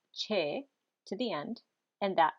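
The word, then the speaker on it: xe: the noun you add the word part che that is x e pronounced che to the end and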